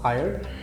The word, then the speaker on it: Hyer: He's the owner of Hire with an H-A-Y-E-R. So the spellings are HYER. H-Y-E-R. Yeah. Oh, So okay. hire basically is ये original spellings हैं। जो हायर हमारा होता है ना HIGHER, हायर। Hire.